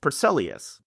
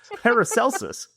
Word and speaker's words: Paracelsus: In On the Nature of Things, the Swiss alchemist Paracelsus, I completely mispronounced that, Paracelsus.